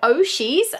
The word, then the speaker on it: Ooshies: a friend of me Sushi's or oh she's they pronounced both ways I've heard them pronounced both ways and I don't really mind I'm gonna call them oh she's I like to call